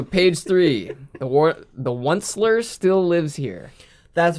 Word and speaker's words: Once-ler: the outslayer no it's it's it's definitely the once-ler it's spelled o-n-c-e oh i know it's once upon